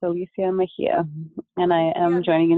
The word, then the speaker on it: Mejia: I introduce yourself thank you my name is pronounced Alicia and my last name is Mahia so it's Alicia Mahia and I am joining you this morning from